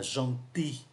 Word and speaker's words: gentil: Và tính từ gentil, người ta không phát âm ký tự L. Phát âm là gentil. Maintenant, je dois aller chercher mon oncle à l'aéroport.